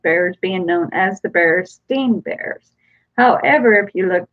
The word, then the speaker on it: Berenstain: so many missed that one it is actually berenstain bears I never really did know exactly how to pronounce it but it is spelled BER e